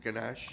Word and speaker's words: ganache: Is it ganache?